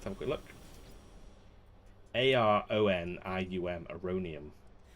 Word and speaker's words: Aronium: a good look a-r-o-n-i-u-m a-rhonium because it sounds like the word erroneous which is weird that's